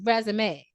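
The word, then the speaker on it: résumé: Okay, with the accent on the E, resume.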